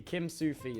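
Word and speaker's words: Kimsufi: for a a a Kim Sufu server or however you pronounce it. Kim Sufu. Kim Sufu. Kim Sufi. I don't know. Kim Sufi Sufi. Kim Sufi. That's it.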